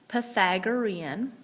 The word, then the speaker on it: Pythagorean: the Pythagorean theorem that's how that word is pronounced Pythagorean okay it is named after a mathematician who